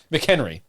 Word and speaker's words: McHenry: You gotta say his name with the hiccup. McHenry.